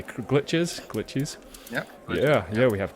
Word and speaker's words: Glitchiz: Am I pronouncing that correctly? Glitchiz. Yeah. Yeah. We have Glitchiz on the show.